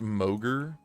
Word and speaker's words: Mogre: Yeah, it it it it's pronounced Mogurt.